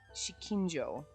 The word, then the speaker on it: Shikinjo: just don't know why I want to pronounce it wrong. So I have to stop and be like, Shikinjo.